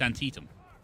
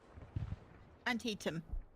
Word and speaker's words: Antietam: Can you phonetically do it for me? Because it reads Antietam.